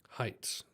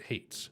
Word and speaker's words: Haitz: anyone wanting to know heights that's how you say it although i think i've said that in i've say that in all my videos but there are people who come to me and like pronounce it hates still um which i find really interesting because i say my name correctly all the time but some people don't don't know that it's heights yeah same with recording